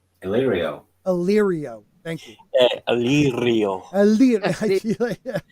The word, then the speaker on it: Illyrio: When Arya is stalking Varys, and I always say his name wrong. Illyrio. Oh shit! How do you say that dude's name? Illyrio.